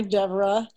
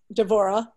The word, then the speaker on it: Devorah: kiara hi isabel hi deborah devorah correct i've been instructing isabella my name devorah which is the hebrew pronunciation which is why it's not the natural pronunciation for westerners so isabelle is um